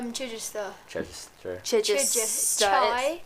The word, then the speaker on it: Chichester: Chichester. Chichester. Chichester. Chai. It's like Chichester. Chichester, but put together.